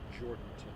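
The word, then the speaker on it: Jourdanton: I'm not even going to try to pronounce it. It's Jordanton.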